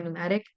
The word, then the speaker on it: pneumatic: words like pneumonia or pneumatic the p is silent but it's in relation